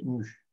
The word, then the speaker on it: mu: Sinon, on peut l'appeler aussi la lettre grecque mu, prononcée mu.